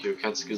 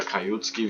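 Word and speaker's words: 吸血鬼: Weil wer meinen Kanal Mark Juketski so verfolgt hat, oder Kajutski, wie es ja richtig ausgesprochen wird, der weiß, dass ich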